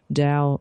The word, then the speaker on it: Dao: And Dao, Dao like what Wayne Dyer talks about, the Dao all the time, D-A-O.